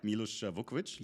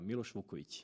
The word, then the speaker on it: Milos Vukovic: Milos Vukovic? Yes, you pronounce it very well. Milos Vukovic. Perfect. Like in Serbia.